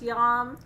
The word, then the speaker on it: yam: one that she said sounds like yeah but is it yam it's yom heart chakra i've got